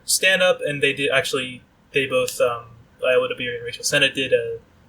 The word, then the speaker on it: Ayo Edebiri: I think Rachel Sennett and Ayo Edebiri, if I'm pronouncing that correct. Ayo Edebiri is Ayo Edebiri.